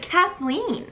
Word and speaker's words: Kathleen: How did she even say my name? It's Kathleen.